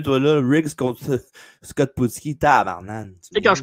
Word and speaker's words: Putski: C'est Scott comme ça qu'on le Putski. prononce? Putski. Putski. Ouais, c'est comme son père Ivan Putski.